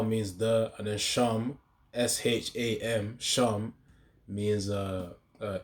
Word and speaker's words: Sham: the and then sham s h a m sham means uh uh name uh in the scriptures you will see Shem but the thing is Shem isn't the real way it's spelled sham so yeah yahwah bahasham